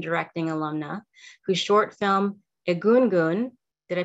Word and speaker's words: Egungun: 2021 screenwriting and directing alumna whose short film egungun did i pronounce that correctly yeah that's right which means